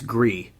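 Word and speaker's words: Gris: call you out but it's it's Gree on we're Canadian yeah no call me out I don't want to mispronounce it's French for gray dude oh so what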